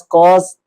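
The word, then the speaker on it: cos: इसी तरह सी ओ एस कॉस theta, T ए एन tan theta.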